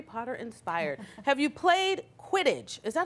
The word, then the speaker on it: Quidditch: Have you played Quidditch? Is that how you pronounce it?